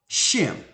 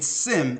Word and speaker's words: Shem: or from shim right a Semite is really uh a mispronunciation or mispronouncing shim they're saying Sim instead of shim which means it denotes